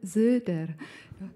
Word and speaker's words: Soeder: My name is Soeder. (laughter) And it is pronounced with a Z, the transliterated o is oe...